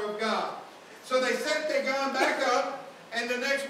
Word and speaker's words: Dagon: And they placed it in the house of Dagon or Dagan, however you want to pronounce it. I pronounce it Dagon.